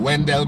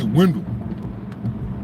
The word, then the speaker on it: Wendell: So Wendell is actually a German name. And in German, it's pronounced Wandel.